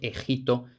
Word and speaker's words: Egipto: del ya mencionado Quevedo él rimaba Egipto con delito y vemos Que lógicamente no podría ser Egipto porque Egipto no rima con delito Pero en cambio ejito sí y ya casi como